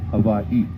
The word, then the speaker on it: Hawaii: Miss say the word anytime you find the letters w in between two of the same vowels you will pronounce with a V sound so you notice Havi has two eyes at the end so you celebrate how he separated so you say Havi and that's the true